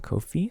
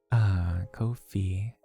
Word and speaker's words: Ko-fi: Swear to God, Jay, listen to the pronunciation of fee. But it's I think Catch wants me to say fi. Oh, fi, not fee. Oh, like a hard I versus a soft I.